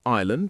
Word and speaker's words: island: We also have island with a silent S, biscuit with a silent U, receipt with a silent P, and muscle with a silent C.